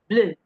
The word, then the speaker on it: bleu: The next slide we have the sound the sharp uh, as in P, je, P, de, bleu, bleu, cheveux, cheveux, the.